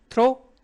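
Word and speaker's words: through: क्या प्रोनाउंस करेंगे? थ्रो हम फिर लिख दीजिए टी एच फिर भी सेम रखिए।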